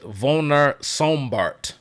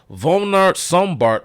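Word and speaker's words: Werner Sombart: uh pronunciation I think they pronounced their W's with like a with like a like a V sound like like a um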